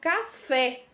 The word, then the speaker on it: café: Nós temos aí a palavra café, café, né? Nós estamos vendo aí, ó, destacada aqui, ó, que a sílaba tônica da palavra café é o fé, né?